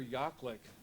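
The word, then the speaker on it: Jaklick: various disciplines um dr yaklick uh spelled with the j pronounced with a y uh went to the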